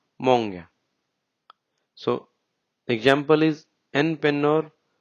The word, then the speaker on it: många: There we'll use monga, which is monga, but we'll say it monga.